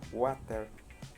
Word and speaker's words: water: Por ejemplo, cuando decimos agua, water, water, water, lo pronuncio siempre como una R rótica, water.